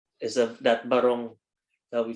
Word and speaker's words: barong: It's barong, right? Arvin, barong Yeah, Tagalog.